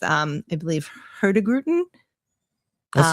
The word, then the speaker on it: Hurtigruten: So, Viking, um there's a another line that I'm going to murder the pronunciation, but it's um I believe Hurtigruten.